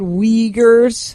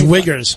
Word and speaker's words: Uyghurs: In Bob's defense, that word Uyghurs, Yeah. they put at the end of the thing how to pronounce it. Yeah. Instead at the beginning. I thought it was Wiggers.